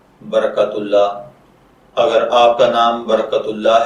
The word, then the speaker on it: برکت اللہ: बरकतुल्लाह की उर्दू इमला में जो हर्फ इस्तेमाल होते हैं वह हैं बेज़बर बर, काफ ज़बर तिकत बरकत और आगे अल्लाह, अलिफ लाम लाम और ए, जबकि इंग्लिश में इसकी स्पेलिंग BARAKATULLAH के साथ किए जाते हैं।